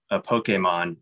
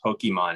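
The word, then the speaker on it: Pokémon: And, as a Professor Oak, somebody who was supposed to be a Pokemon expert. And that was one thing they were like, it's not Pokemon, it's Pokemon. Oh, yeah.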